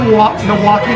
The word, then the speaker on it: Milwaukee: Do you say Milwaukee? Like there is no L? I'm from New York. So okay, but there's an L. Milwaukee. Milwaukee. But there's an L. Milwaukee.